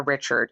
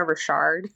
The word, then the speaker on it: Richard: be Smith and Lena Richard I actually think I've been mispronouncing her name I think it's Lena Rashard oh really I was